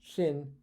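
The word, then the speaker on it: xin: has x i in they're both pronounced shin and they both mean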